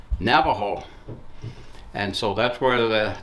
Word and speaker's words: Navajo: it the Spanish spelling the Spanish pronunciation and today it is said as Navajo and so that's where